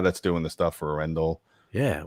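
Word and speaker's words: Arendal: arendelle yeah i have to say it right r indel arendelle just like those are awesome speakers man really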